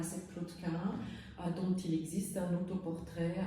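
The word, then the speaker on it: Cahun: Donc vous avez le mannequin à droite qui reprend quelques éléments de l'esthétique de Claude Quin, justement, que j'avais mentionné. Ça s'écrit C-A-H-U-N, si jamais ça vous intéresse, qui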